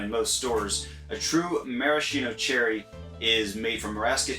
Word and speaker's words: maraschino: ounce of maraschino liqueur now maraschino or maraschino i guess is actually the correct way to pronounce it is a liqueur made